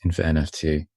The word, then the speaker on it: InfiNFT: like so what is infa nft can we first teach Matthew I'm sorry can we first teach Matthew how to say this properly yeah it's like Infinity my my tongue is